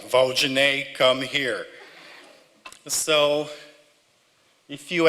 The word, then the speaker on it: Valdinei: I put it there, so Val, and we don't pronounce the L's the same way that Americans do. So it's not Val, it's Val. The D-I we pronounce as G, and Ney is the last part of the name.